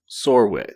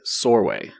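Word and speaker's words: Csorwe: our main character is sorway sorway it rhymes with doorway it's c-s-o-r-w-e but rhymes with doorway sore way i'm probably saying it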